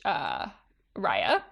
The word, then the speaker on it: Raya: Thank you very much, Raya. I like how she adds the pronunciation. Yes, like rye bread.